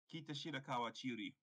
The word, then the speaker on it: Kitashirakawa Chiyuri: Kitashirakawa Chiyuri. How do you even pronounce this?